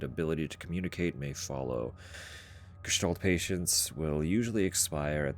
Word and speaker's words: Gestalt: But the ST is like a Stalt sound, which confused me.